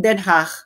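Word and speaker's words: Den Haag: feeling nila sila 'yung talagang DCH so yang pronunciation ng den ha pag ikaw alam alam na alam mo kung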